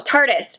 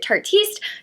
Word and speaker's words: Tarteist: She said it's like artist but tardis because it's tart. And I was like, that's how you say it cuz you never know. Was it Tartiste?